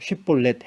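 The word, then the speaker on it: שיבולת: 정말 길라 사람인지 확인을 하기 위해서이 단어를 한번 발음해 보라고 시켰다는 거죠 쉽볼렛 해봐 이렇게 한 겁니다 그 당시에도 이미 사투리가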